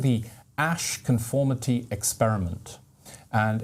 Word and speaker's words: Asch: It's called the Ash conformity experiment, and it's a very famous psychological experiment that has tremendous insights spiritually and otherwise.